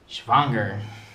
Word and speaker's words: schwanger: Stop it. You're saying it wrong. Schwanger? The W's are pronounced like V's. Schwanger. Remember? Schwanger.